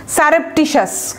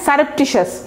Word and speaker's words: surreptitious: স্টেলথের দেখেন সিনোনিম আবার adjective, legend হচ্ছে কি ইকুয়াল, তাহলে সিনোনিম সারেপটিশাস, খুবই ইম্পর্ট্যান্ট ওয়ার্ড, একটা হিট লিস্টে থাকবে এবং কঠিন একটা ওয়ার্ড, হ্যাঁ, সারেপটিশাস, SURREPTITIOUS, সারেপটিশাস, ভেঙে ভেঙে উচ্চারণ করবেন, ভুল হবে না, সারেপটিশাস, TIOUS, সারেপটিশাস।